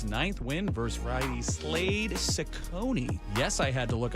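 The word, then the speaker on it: Cecconi: Robbie Ray goes for his ninth win versus Riley Slade Sakonei. Yes, I had to look up how to pronounce that.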